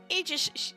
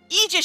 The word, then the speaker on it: aegis: things coming up yeah so got ourselves the aegis sorry aegis shield group i told myself i was going to pronounce it right so we have zyrack beauty